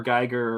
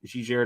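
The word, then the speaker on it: Giger: kind of like uh h.r geiger or jijara depending on how it's pronounced um kind of alien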